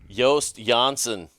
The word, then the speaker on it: Joost Janssen: I don't know if that's how you pronounce your name or not. But Actually, that's the correct way to pronounce it. But there you go. If they get my first name right, Yoast, then they go with Jansen's okay. Too.